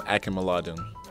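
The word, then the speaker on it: Akinmoladun: right what is the worst pronunciation of freedom a can mullah do you've ever heard carried that one what is the correct pronunciation freedom akima Laden who's your BFF on the team prior to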